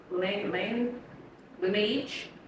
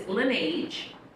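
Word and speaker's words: Laneige: buy some more um the guy said and I was like why I was saying it so wrong and he was like I was saying it wrong too but yeah it's linage and it's what I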